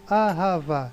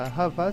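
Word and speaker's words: אהבה: Você tem o Re e não tem ponto nenhum nele. Nesse caso, como ele não acompanha ponto nenhum e não tem nenhuma letra que vá após ele, nesse caso ele é mudo.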